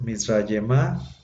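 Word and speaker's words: מִצְרַיְמָה: Entonces, Mizrayemá, la terminación aj al final, no se pronuncia la G final, se hace quiescente, nada más se pronuncia la pura A.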